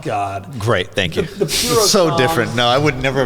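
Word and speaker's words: Purosangue: The Pro Segway, I believe no. so it's pronounced. Filippo? Puro sangue. Oh, God. Great, thank you. The puro so song.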